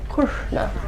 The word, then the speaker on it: Krishna: So we'll say it the English way first, Krishna, and I'll say the Sanskrit way, Krishna.